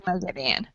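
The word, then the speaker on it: Moghedien: the audio okay so so it is meedan Megan yes it's meedan okay then I was I was correct all right okay so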